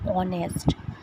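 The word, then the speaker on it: honest: अपन सोचेंगे कॉन्सोनेंट है, बट इसका प्रोनाउंसिएशन क्या है, ऑनेस्ट मैन, तो ये क्या आएगा, एन, क्या आएगा, एन। प्रोनाउंसिएशन क्या है, ऑनेस्ट, है ना।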